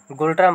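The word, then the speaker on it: ngultrum: যে বানামটা সেটা হচ্ছে এন জি ইউ এল টি আর এম এন সাইলেন্ট থাকে গোল্ড্রাম বা নো ট্রাম যেটা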